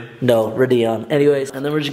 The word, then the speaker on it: Radeon: setting it up I'm gonna name him uh Radion what is that actually used to pronounced no Radeon anyways and then we're just getting everything downloaded